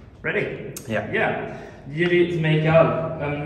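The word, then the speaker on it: Jiří Smejkal: Yeah, it's Jiri Smejkal. Yeah, that's hard for us Swedes to pronounce.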